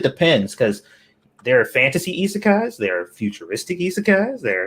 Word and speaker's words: isekai: into the oh wow isekai anime is that how you say it isekai yeah that was close uh what is your